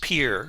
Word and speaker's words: Pierre: Pier for Pierre.